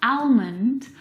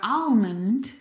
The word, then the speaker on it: almond: Now in this word, the L is silent. It's not almond or almond.